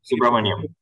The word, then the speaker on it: Subramaniam: So I thought the comment by Captain, I don't know if I'm pronouncing Subramaniam. Yeah, yes, Captain Subra.